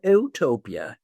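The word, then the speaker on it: eutopia: In between is something called ootopia, not EU, but but it's spelled the same way, but it's not EU.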